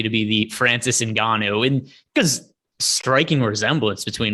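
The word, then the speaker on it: Ngannou: annick got there is francis and ghana's name was mispronounced in every single fight they called him francis cano before then just because neither neither rogan or mike goldberg ever cared to ask him how to pronounce his name uh but i'm i'm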